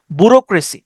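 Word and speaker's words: bureaucracy: বি ইউ বু আর ই রে বাি যেটা উচ্চারণ করে না কেন এ ইউ সি আর এ সি ওয়াই ব্যুরোক্রেসি বুরোক্রেসি মানে হচ্ছে আমলাতন্ত্র আমলাতন্ত্র মানে কি আমলাতন্ত্র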